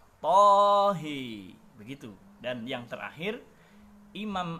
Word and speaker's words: Taha: Dan yang ketiga, lafaz Taha, Imam Abu Amr membacanya dengan mengimalahkan huruf ha-nya menjadi Tahe, Tahe.